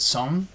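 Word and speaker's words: Seon: And they pronounced it Son. Son? Son, S-E-O-N.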